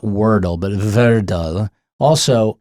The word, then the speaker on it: Wordle: Not Wordle, but Verdle. Also, how do you spell it? Word L-E. Word L-E. Wordle. So it's not Virdle. It's not Verdel. It is Wordle.